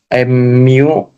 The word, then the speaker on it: mu: Nah, kalau tanda U ada garis itu dibacanya mu.